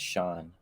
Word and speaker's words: Shang: But like I name guess the correct way is Sean. yeah, Sean, not Shang, Sean. He changed his name from Oh, Shang to Sean.